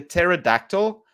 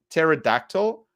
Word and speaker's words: pterodactyl: it's it's like a pterodactyl but it's so the p is silent so Tehran it's like like uh um pterodactyl but it's p-t-e-r-o-n which